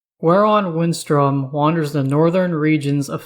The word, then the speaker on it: Gwaeron Windstrom: His name is pronounced Gwaeron Windstrom.